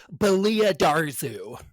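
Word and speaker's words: Belia Darzu: Uh the actually um the audiobook narrator for the Darth Bane books pronounces it Balia Darzu.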